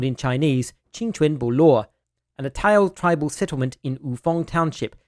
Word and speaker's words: Atayal: called Taiyazu in Chinese and Dayan in the Atayal languages. Throughout this video, I will be using the standard English pronunciation of this word, Atayal, unless I am citing or quoting Atayal people themselves.